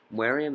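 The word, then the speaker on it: Meruem: Mariam is how they say it in the dub version.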